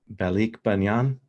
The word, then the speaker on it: Balikbayan: going to pronounce wrong, and I've heard it pronounced, and it's Balikbayan.